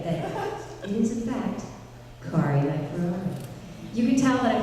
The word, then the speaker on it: Kari Wahlgren: Spread it far and wide on your social media that it is in fact Kari Wahlgren. You can tell that I've had it mispronounced a few times.